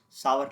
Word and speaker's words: Savart: Okay, sour law. Okay, here T is also silent.